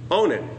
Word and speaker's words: Onan: is then given to Onan or on depending on your pronounce his name he doesn't fulfill his